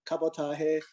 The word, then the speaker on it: Cabotage: okay yeah well uh my name is cabotage or kabatahe which is the correct Filipino pronunciation if you want to go be real technical about it but yeah